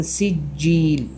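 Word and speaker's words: سجيل: ഉച്ചരിക്കാൻ പാടില്ല നാലാമത്തെ ആയത്തിൽ മിൻ സിജീൽ സിജീൽ ഇവിടെ സി എന്ന് കൃത്യമായി പറയുക നേരത്തെ പറഞ്ഞതുപോലെ സ്ാദാക്കി മാറ്റുകയും ചെയ്യരുത് അഞ്ചാമത്തെ ആയത്തിൽക അപ്പോൾ സ്ാദ്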